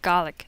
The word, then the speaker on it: Gaelic: Hello, I'll be talking about the Scots Gaelic language, or Gaelic, as it would be pronounced by a person in Scotland.